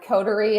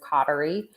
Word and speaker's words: Coterie: may be like you're the the most unique pronunciation that you've heard of codery yes yes so um codery i think um typically the most miscommonly said um coterie is cautery we hear that a lot and it's funny